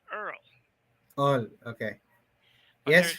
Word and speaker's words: URL: That's URL. That's how he spells it. But it's pronounced Earl.